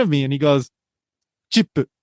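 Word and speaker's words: チップ: me and he goes chip. Which is how you pronounce tip in Japanese.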